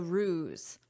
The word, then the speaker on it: ruse: After visitors publicized the ruse. Okay. First, look at this word, but listen to my pronunciation. Ruse. Zzz. So, notice the sound is a zzz, zzz, a z. Ruse.